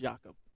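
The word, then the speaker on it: Yacub: it's pronounced Jakob. Jakob? Yeah. How do you spell that? Jakob. Y-A-C-U-B. Jakob.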